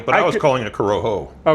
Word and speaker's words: Corojo: do Coroha. I always pronounce the J as an H. Oh. Well, I was too, but I was calling it Coroho. Oh, Coroho or Coroha? Coroha.